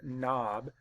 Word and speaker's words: knob: and the rule says when the K and N are together at the beginning of a word or syllable the K is silent and only that is